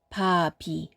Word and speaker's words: 밥이: 바 밑에 받침, 비읍과 뒤에 오는 음절 이가 만나서 새 음절을 만듭니다. 그래서 밥, 이가 아니라 바비, 네, 그렇습니다. 바비, 바비가 맞습니다.